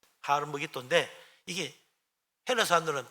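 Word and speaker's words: הר מגידו: 가지고 아마이 된 겁니다 히브리 원어 발음은 하름 먹이 도예요 하루 먹이 도인데 이게 헬라 사람들은 발음이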